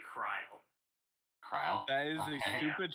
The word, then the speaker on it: Krile: It's funny, because her name is actually Krile.